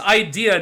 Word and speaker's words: IDA: he is the leader of the IDA Knights, which is actually pronounced Idea Knights, because of course it is.